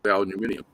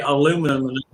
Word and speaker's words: aluminium: of frustrating aluminium yeah oh you mean aluminium that's the way they pronounce it in the uk is aluminium he's trying to pronounce trying to say aluminum oh okay well my